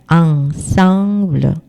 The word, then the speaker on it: ensemble: 이게 다 콧소리가 나요. ensemble.